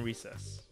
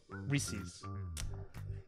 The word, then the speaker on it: Reese's: them pretty high up chocolate is better than recess reese's how do you say it reese's reese's recess